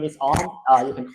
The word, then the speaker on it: Om: Om is like a local name here in Thailand, so which is pronounced like ORM, like ORM in one word, like Om, something like that.